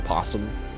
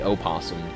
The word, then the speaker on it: possum: The possum that's spelled with an O, and is not, the O is silent, by the way. If you really want to, it's an easy bait, dude. If you want to make somebody mad, you say opossum.